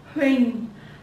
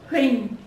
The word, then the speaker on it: Huỳnh: Huỳnh. Huỳnh.